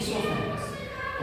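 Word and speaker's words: oesophagus: लोग कहते हैं इसोफागस लिखते हैं ो फेरस ओ साइलेंट है यहां पढ़ते हैं सोफस और इसका नाम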